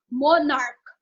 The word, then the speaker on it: monarch: ends with ch but the scenes here is pronounced as k monarch so we will not read it as monarchs